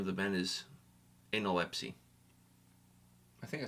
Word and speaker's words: Analepsy: of the band is enolepsy I think I said it right there yeah with some emphasis on the anal and the Ipsy and the FC who